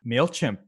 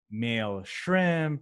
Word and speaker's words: MailChimp: And a lot of people actually misspell it when they're doing Google searches for this, or they're typing it in, or when they're just talking about it. So, they'll say like mail shrimp, or like just a